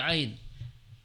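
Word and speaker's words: عين: Ain dia keluar dari tengah tenggorok tenggorokan atau wasatul halqi. Ini kita baca dengan a aa i u. Ingat ya. Ain itu dia tidak keluar dari hidung ya. Karena sebagian ada yang baca ain itu bindeng.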